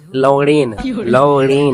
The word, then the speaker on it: लवणेन: देखो गुल्लू, होता क्या है, लवणेन ण के ऊपर एक ही मात्रा होती है और न होता है, न में आकार नहीं होता, लवणेन भुज्यम नहीं होता है।